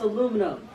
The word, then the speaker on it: aluminum: all the elements on this section aluminium is pronounced aluminum screw you kyle aluminum is used in countless